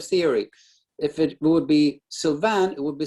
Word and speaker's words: Sylvan: tiny little correction sure my name is pronounced sylvan ah i you know i was going to ask but you know what you know why if you think about how you spell susan s-u-s-a-n it's the same kind of theory if